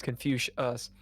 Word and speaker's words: Confucius: Or Confucus or whatever the guy's name is. I don't know the guy's name. Confu. I don't, how do you say it? You're right. It's Confucius.